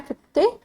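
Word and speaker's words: Fichte: तो नेक्स्ट है फिटे। फिटे एक्चुअली इनका प्रोनाउंसिएशन थोड़ा सा अलग है बट जनरली इन्हें फिक्टे बोलते हैं। तो इसलिए मैं अभी फिटे प्रोनाउंस कर रही हूं इसको।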